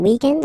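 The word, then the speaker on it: week-end: we're talking about the weekend okay but then pronounce it the French way weekend the weekend okay but then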